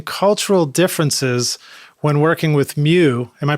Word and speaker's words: Mew: And he says, I would like to know if he had any interesting cultural differences when working with Mew. Am I pronouncing that right?